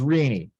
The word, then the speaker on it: Rene: His name looks like Rene. He did not pronounce it that way. He pronounced his name as Rene.